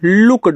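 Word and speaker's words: looked: अब ई डी लग गया तो लुक्ड हो गया। लुक्ड यानी कि आधा का और ड कर दोगे लुक्ड यू पी अप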